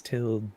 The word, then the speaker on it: tilde: And Annika's clarifying that it's tilde. Like, Tilda duh. Swinton.